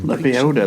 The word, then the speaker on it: Lebioda: He retired to a monastery in the Dragon Mountains and began Lebioda, that's how you pronounce it.